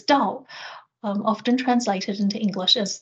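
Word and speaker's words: 道: And then the second character is pronounced in Chinese as Dao, often translated into English as the way with a capital W.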